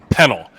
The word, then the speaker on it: Pennel: oh boy peanut it's a penal it's actually pronounced panel but i jim has been calling me pennell